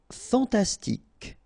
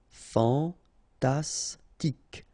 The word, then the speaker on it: fantastique: Fantastique. Okay, Q-U-E at the end, K. Okay, tic. Fantastique. Fantastique.